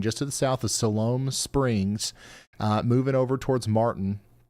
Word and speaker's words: Siloam: It's pronounced Siloam?